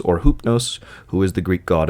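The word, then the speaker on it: Ὕπνος: Latin form and then the other is the original ancient Greek form uh they are referring to the exact same entity which is hypnos or hupnos who is the Greek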